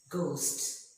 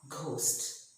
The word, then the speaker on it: ghost: So when a word begins with GH, generally the H is silent. For example, ghost. It is not ghost, but it is ghost, ghetto.